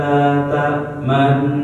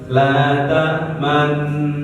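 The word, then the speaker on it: لَا تَأْمَنَّا: Jadi cara bacanya ini di fokus di la ta'mannanya ya. La ta'manna. Nah itu cara bacanya gini. Qalu ya abana malaka la ta'manna. Monyong sebentar baru balik lagi.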